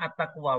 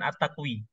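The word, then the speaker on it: التقوى: ini ini Attaqwa ya bacanya Attaqwa bukan bukan attaqwi ya Meskipun di belakangnya itu ada ee apa ee huruf semacam ya ya huruf semacam ya tetapi dia bukan ya dia bukan ya karena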